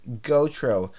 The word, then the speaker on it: Gautreau: my last name is gotro it rhymes with GoPro so me that's me gautreau this is my channel